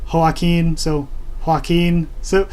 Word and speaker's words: Joaquin: And Joaquin, if you change the H to a J, that is how the Spanish name Joaquin is spelled. And of course in Spanish the J has an H sound, so I figured that